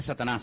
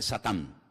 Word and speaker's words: Satán: que viene del hebreo en hebreo no se dice Satanás dice satán que significa adversario y